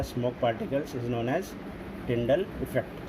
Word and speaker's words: Tyndall: तो उसको बोलते हैं टिंडल इफेक्ट।